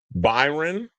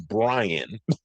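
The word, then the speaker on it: Bryon: I called him Byron which I just did. His name is Brian. B R Y O N.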